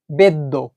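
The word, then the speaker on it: ベッド: তাহলে এমনি এখন শব্দটা আমরা পড়বো বেদো, বেদো। কিন্তু এর মাঝখানে যদি একটা ছোট সু বসিয়ে দেওয়া হয় তাহলেই এই যে দোটা, এর দটা ডবল হয়ে যাবে, মানে ডিটা ডাবল হয়ে যাবে। তাহলে এখন আমরা এই ওয়ার্ডটাকে পড়বো বেদ্য, বেদ্য, অর্থাৎ বেড।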